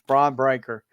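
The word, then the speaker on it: Bron Breakker: Should have been Braun Breaker versus Gunther, or however you say his name. It's Braun Breaker.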